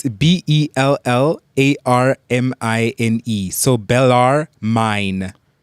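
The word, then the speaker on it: Bellarmine: How do you spell it? It's B E L L A R M I N E.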